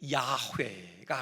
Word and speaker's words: 야훼: 그래서 여호와라는 그 발음이 정확한 발음이 아니라고 학자들은 얘기하잖아요. 그 여호와라는 발음이 어디서 나왔느냐, 아도나이, 바로 그 모음을 붙여서 여호와가 나왔다고 해요. 그래서 학자들이 연구를 하죠. 원래 그 네 자음, 거기에 대한 진짜 발음은 뭘까? 그래서 나온 결론이 야훼가 아닐까, 그렇게 얘기를 해요. 근데 이것도 100% 정확한 것은 아니다, 또 학자들은 그렇게 얘기합니다.